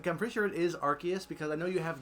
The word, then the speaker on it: Arceus: So I think it is Arceus, like hard C. I know that it is Arceus, but I hate that.